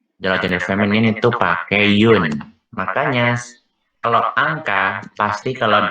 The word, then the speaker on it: une: Ini bacanya yun ya. Bukan yuyun, tapi bukan une juga, tapi yun.